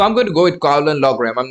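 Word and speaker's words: Caolán Loughran: Colin Logram. Colin, how do you spell his name? How do you pronounce his name? I know how to spell it, but how do you pronounce his name? Colin Logren.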